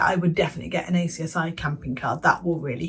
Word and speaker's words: ACSI: a scheme called the I call it acsi people laugh at me they call it axie it's spelled acsi so that's what I'm going to call it and basically if you